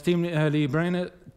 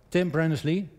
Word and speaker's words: Tim Berners-Lee: So as team Lee Brenner, well, I have to pronounce his name or correct, Tim Berners-Lee, and he's the inventor of the www protocol.